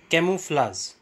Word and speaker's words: camouflage: Dear friends, a word was used in between the dictation, that is camouflage. I pronounced it wrongly. Actually, it is CAMOUFLAGE. That is camouflage.